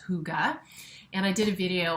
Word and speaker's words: hygge: whole movement of um i believe this is pronounced hygge and i did a video on how vivi